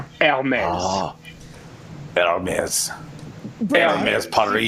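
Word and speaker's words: Hermès: So you've got to remember that the French don't pronounce H's. So it's basically just Hermes.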